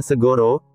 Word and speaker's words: Sagara: yang luas begitu juga Sagara dalam bahasa Jawa itu bacanya Segoro artinya larutan yang luas